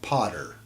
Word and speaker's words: Pater: also paw Thor Jove Pater pronounced Potter reason 19 when you